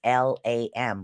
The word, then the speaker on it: LAM: The way this is pronounced is lam. The A sound is a lot longer, is what it is for the root chakra.